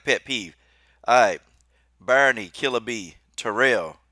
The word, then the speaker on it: Tyrell: I got a pet peeve I Barney killaby Terrell it's here live there right yeah yeah that's